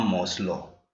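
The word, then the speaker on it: Maslow: ये किसने दी थी, अब्राहम मोस्लो, अब्राहम मोस्लो। कई बार इसको मास्लो भी बोलते हैं, अब्राहम मोस्लो, कुछ भी प्रोनाउंस कर लीजिए, अब्राहम मोस्लो।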